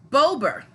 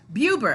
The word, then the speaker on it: BeauBer: and I asked you guys whether you would pronounce it uber or Bober thank you for the you Derek Bailey and